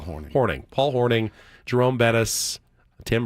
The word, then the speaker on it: Hornung: Paul Hornung, but it's spelled Hornung. It's Paul Hornung.